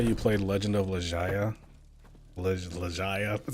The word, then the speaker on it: Legaia: Legaia? That's how you pronounce that.